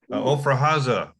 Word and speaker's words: Ofra Haza: Spell it, please. Her husband gave her AIDS. Ofra Haza, O-F-R-A, Haza, H-A-Z-A, and they called her the Israeli Barbara Streisand.